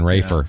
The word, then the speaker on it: Rafer: So, anyway, Rafer said, God, I almost called him Raper, just out of, like, it's just easier to say Raper than Rafer for some reason. It's the P is easier than the F to pronounce.